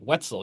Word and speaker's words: Wetzel: Wetzel. Yeah, Wetzel like pretzel.